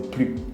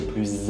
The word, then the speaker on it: plus: pas le laisse comme plus ok alors il ya beaucoup de situations là aujourd'hui je voudrais vous expliquer quatre situations d'accord première situation les situations où on ne prononce pas le s d'accord en général on